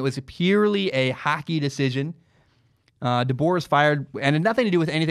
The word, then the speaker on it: DeBoer: watching an NHL game, literally because I was trying to figure out how to pronounce his name. The announcer called him DeBoer.